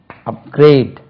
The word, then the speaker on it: upgrade: யூபி அப், GRADE, upgrade, upgraded, upgraded, GRADED, upgraded, upgraded, GRADED, upgraded, upgrading, GRADING, upgrading, upgrade, upgraded, upgraded, upgrading.